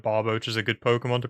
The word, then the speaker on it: Barboach: To be fair, though, like, if you're gonna pronounce a Pokemon wrong, I feel like Barboach is a good Pokemon to pronounce wrong, because how often are you really, like, recalling that that Pokemon exists?